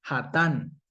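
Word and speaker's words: חָתָן: Pero resulta que Hatán se escribe de la misma manera, con las mismas vocales, ve, con las mismas consonantes. Lo único que cambia son las vocales y la pronunciación.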